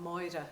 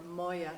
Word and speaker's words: Máire: Moa or Moya as you would pronounce it in your in your very strange Donny Irish because I speak monster Irish so I find Dolly Irish totally strange.